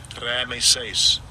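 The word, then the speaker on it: Raamses: and I'm going to get a pronunciation of and in the in the Hebrew it is H7486 H7486 Ramace Ramace And second entry raises.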